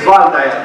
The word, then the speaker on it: Waldeyer: Henrik Waldeyer, okay, was a German anatomist, Alim Umari, W in Germany, they pronounce it V.